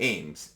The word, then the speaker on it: AEMS: Fast forward, and I got to try out one of the AIMs. AEMS is the way it's spelled, and it was the same story.